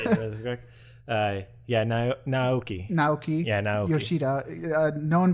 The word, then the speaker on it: Naoki: Naoki.